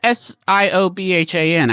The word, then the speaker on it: Siobhan: It's Siobhan. I believe an Irish name pronounced Siobhan.